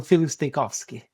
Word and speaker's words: Filip Stojkovski: I don't know if you want to say it one more time so our listeners can hear their proper pronunciation. No worries. So, yeah, I'm Philosski.